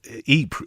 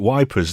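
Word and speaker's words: Ypres: Yeah, Eep you went to. They used to the Tommies used to call it wipers, didn't they? Because they couldn't pronounce it properly.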